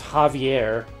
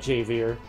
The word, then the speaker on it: Javier: and it seems like this guy's name should probably be pronounced Javier not jvir so my instinct that maybe the J was pronounced like an H appears to have been correct okay so